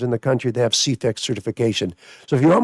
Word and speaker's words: CEFEX: C C E F E X. Charlie, excellent, Frank, excellent, X-ray. CEFEX. Oh, that's a really acronym Yes. It's pronounced there.